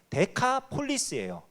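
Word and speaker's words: Decapolis: 데가볼리라는 지명 혹시 들어보셨나요? 기억나시죠? 예수님께서 거기 이렇게 귀신 그 무덤 사이에 있는 귀신 들린 자를 쫓아내 주셨던 데가볼리라는, 그게 데카폴리스예요. 원래 발음이 데카가 10이라는 뜻이고요.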